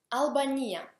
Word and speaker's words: Албания: Албания. In russo cambia accento solamente e diventa Albania.